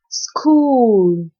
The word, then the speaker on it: school: School. Sk oo School. In this word, H is silent.